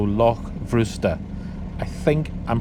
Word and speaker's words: Loch Bhrusda: Now, as I understand it, in Scottish Gaelic, that BH combination is pronounced as a V, so Loch Bhrusda.